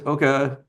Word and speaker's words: OCCA: You might hear me use the Canadian pronunciation sometimes of Oka. So, I apologize for that uh in advance. So, I'll get to it. Um so, what is Oka?